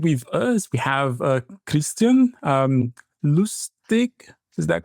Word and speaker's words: Lustig: And with us, we have Christiaan Lustig. Is that correct? That's good enough. Yeah. In Dutch, it would be Lustig, but that's a bit difficult to pronounce for non-Dutch speakers.